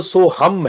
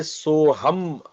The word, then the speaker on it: सोहम: तो जो मंत्र है वह सोहम है लास्ट में म है। जब मंत्र करेंगे ध्यान रखेंगे यह सोहम मंत्र है। म लास्ट में उच्चारण करेंगे।